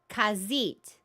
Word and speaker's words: Khajiit: It's like the cats are pronounced Khajiit.